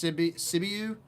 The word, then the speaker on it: Sibiu: I should have done better with figuring out how to pronounce some of these words because now I'm all in my head. It's Sibiu.